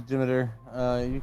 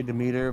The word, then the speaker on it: Demeter: It is Demeter. You can also say Demeter, but it doesn't. It's one of those potato, technically.